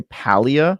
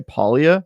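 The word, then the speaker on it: Palia: pronunciation is correct and their answer was all of them that they intentionally made it have no proper pronunciation so some of them on their team say Pia some say POA and some say Pia which I think we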